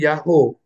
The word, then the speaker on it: YHWH: Karena memang YHWH itu dibacanya Yahoo kalau tanpa tanda baca.